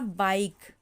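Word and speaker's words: bike: एक हो गया हमारा बाइक, बाइक, तो इसमें भी हमारा क्या है, ई हमारा साइलेंट है।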